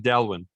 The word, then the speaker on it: Dailuaine: I pronounce it Dailuaine.